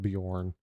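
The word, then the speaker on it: Björn: Yeah, just in time to see him with make family with Bjorn. It's odd that there's a J in the name. You don't pronounce the J.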